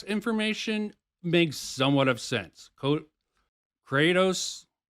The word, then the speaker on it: Kratos: Kratos, am I saying it right? Kratos? Yeah, it's Kratos.